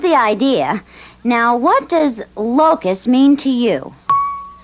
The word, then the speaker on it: locus: things right that's the idea now what does locust mean to you it's an insect and when they come in swarms they eat plants and leaves no that's Locust I said Locust l o c u s